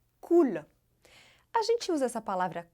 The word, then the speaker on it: cool: O L é pronunciado de uma maneira bem clara em francês. Olha só. Cool. Na ponta da língua, ela encosta lá no céu da boca.